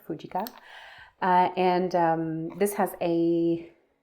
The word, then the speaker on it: Fujica: is the fujica stx1 I learned that's how you're supposed to pronounce this fujica and um this has